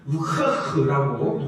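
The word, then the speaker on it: רוח: 이 히브리어 생기는 우흐흐라고 이야기를 하는데요. 네, 정말 이 히브리어 나중에 들어보시면 제가 발음했던 거랑 똑같이 이 랍비들이 이야기하는 것을 볼 수 있습니다.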